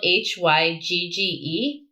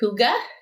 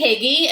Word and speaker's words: hygge: of gotten big in the last few years it's spelled h-y-g-g-e um and it is a danish word that